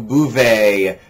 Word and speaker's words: buvez: And in this case, it's buvez, like allez, vous allez, vous buvez. It's all going to end with that A sound at the end of the verb.